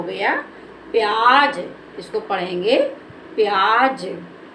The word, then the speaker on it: प्याज: देना तो प्यार क्या हो गया प्यार दूसरा प्याज प्या ज यह हमारा हो गया प्याज इसको पढ़ेंगे प्याज अ नेक्स्ट वर्ड देखो फ फ को कैसे